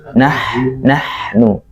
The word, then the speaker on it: نحن: Kemudian membedakan huruf ha dan ha ya. Nahnu mustah. Nah, kan beda ya, ha dan ha. Nahnu mustahzi'un. Kalau sama jadinya nahnu. Jadi kita ketika pengucapan huruf ha benar-benar menghadirkan tenggorokan kita.